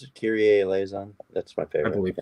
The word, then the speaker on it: Kyrie Eleison: Oh my God, it's Kyrie Eleison, I like Broken Wings, but Kyrie, how do you pronounce it? Kyrie Eleison.